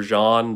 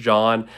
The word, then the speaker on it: Jean: That's spelled J-E-A-N for Jean, like the French Jean, not Jean, but Jean or John.